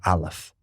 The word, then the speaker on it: Aleph: So the Aleph is the silent letter. Aleph is completely silent in the Hebrew alphabet.